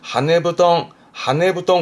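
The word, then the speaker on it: 羽布団: 그리고 뭐 하나 뒤에 붙여보게 되면 원래는 후동, 이불을 후동 그러는데 하네부동 그러면 새털 이불, 그 폭신폭신한 새털 이불을 하네부동 하기도 합니다.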